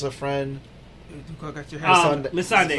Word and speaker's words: Missandei: Say the name for me because I'm about to mispronounce it. She loses her friend. got your hands Missandei. Missandei.